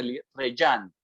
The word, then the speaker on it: Rejane: A Reyán. ¿Cómo se llama? Se escribe Rejane, pero como es brasilera y en portugués, la J sonaría como una Y, entonces el Reyán.